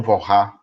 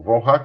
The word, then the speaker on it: Walras: O Walras criou... Mas Walras aqui não é uma pronúncia horrorosa do francês, né?